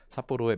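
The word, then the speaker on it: 札幌: 있는 상황이긴 합니다만 어쨌든 삿포로의 맥주가 눈축제도 유명하죠. 그래서 얘는 편지 찰자 2급 단어고요. 얘는 휘장 황자. 그래서 찰황이죠. 찰황. 이게 바로 삿포로라고 읽는다는 거.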